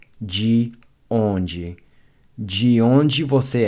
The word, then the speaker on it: de onde: Notice how the DE is pronounced like a J in the English word judge. De onde. De onde você é?